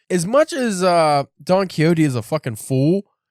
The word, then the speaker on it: Don Quixote: I am reading Don Quixote. You gotta say it like that.